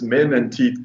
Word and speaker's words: Menteath: It's men and teeth put together.